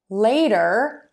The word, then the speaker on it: later: Now for later, you're gonna have a long a sound. You're gonna start with really wide open a mouth for that, and then move to a smile.